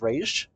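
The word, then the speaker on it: Ra's: I guess they're going with the Raz pronunciation, but honestly, it's one of the people that's on the correct pronunciation is Raish.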